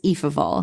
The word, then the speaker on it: Ephraim: And Ephraim who is referred to it's spelled EPH but is pronounced E. E of all, which I kind of like that he's Eve of all.